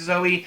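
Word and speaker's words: Zoje: I think it's Zoe. It's spelled Z-O-J-E.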